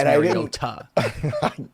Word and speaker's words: Mariota: And now I don't like him because it's Mariota.